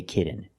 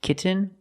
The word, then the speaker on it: kitten: but don't say kitten I cannot pronounce these T's as a fast D I cannot say kitten it's kitten or more commonly kitten no I want a